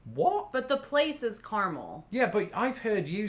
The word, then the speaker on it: Carmel: My pronunciation of this word is caramel. As is mine. What? But the place is Carmel.